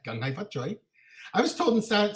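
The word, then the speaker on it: Kung Hei Fat Choi: That's how it's said, "Gung Hai Fat Choi."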